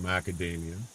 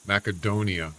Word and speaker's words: Macedonia: No, but there was a country called Macadamia. I don't know if that's what it's called now. I think it was uh there was a north acade macadonia, not Macadamia. Macedonia, I'm sorry I pronounced it wrong.